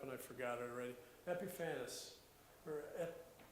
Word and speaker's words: Epiphanes: Epiphanes, or Epiphanes. It's spelled like Epiphany, only instead of a Y, there's an ES at the end of it.